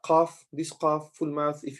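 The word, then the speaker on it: ق: We have, in those 30 letters, we have some letters they will always be pronounced or read with full mouth. When you're pronouncing those letters, your mouth would be, it's like there's something inside your mouth. Your mouth is full.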